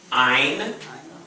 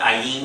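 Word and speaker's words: ע: Ein. The accents on all the alphabet are always in the first syllable. So it's not ayin, it's ein. Ein. Ein. Ein. So it sounds like the word mine.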